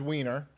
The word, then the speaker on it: Weiner: City and um he he's a congressman named weiner it's not Weiner and he uh nope unfortunately it's pronounced Weiner and he accidentally uh tweeted a